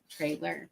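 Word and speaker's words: Trylor: local chains but it's spelled t r y l o r it's like the name Trey trer because the the Founder's name is Trey 10 out of 10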